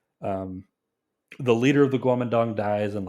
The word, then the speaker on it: Guomindang: Its proper name is the Guomindang. That's how it's pronounced, or more or less how it's pronounced in Chinese. In English, they like to pronounce it Kuomintang, but it's Guomindang.